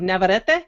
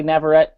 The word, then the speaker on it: Navarrete: name, and I think I just did the Spanish way to pronounce it of Navarrete. So my You're apologies. Right on. No, you're right on. I just usually say Navarrete because no one else typically pronounces it that way. So it's the whole rolling of the R's thing, I guess.